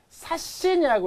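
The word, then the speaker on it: 刷新: 원래는 사찌라고 읽지만 이 신이 왔기 때문에 사신이라고 읽어주시면 돼요.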